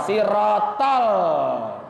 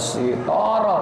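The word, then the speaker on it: صراط: sirotol ladzina an'amta alaihim bacanya I sitoro lebih citoroll sirotol enggak sitoro sirotol ngerojok diajarin niat puasa nawaitu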